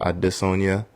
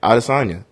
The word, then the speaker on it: Adesanya: know izzy's real life the way the african pronunciation of his last name is addis sonia but he his manager came out said he wants people to say it out of sonya for media right so that's how if izzy